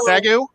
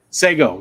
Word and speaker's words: sago: How do you pronounce it? Sagu? Sago, yeah.